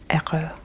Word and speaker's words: heureux: Il est heureux. Il est heureux. I guess since this H wouldn't really be pronounced. Il est heureux.